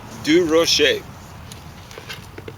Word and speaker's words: Durocher: How would you pronounce this name? Rocher? Of course. Durocher.